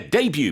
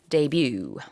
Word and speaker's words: debut: new group a new musician will make their debut meaning that will be their first performance or their first release all right the pronunciation of this word is a little different